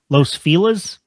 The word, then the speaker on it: Los Feliz: It's only it's how like in LA, Los Feliz. What? But it's that neighborhood. If you call it by the correct pronunciation, nobody knows what you're talking about.